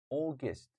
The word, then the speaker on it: August: April May June July AUST August all not out or Augustus or Augustus no AUST right guys August September October November and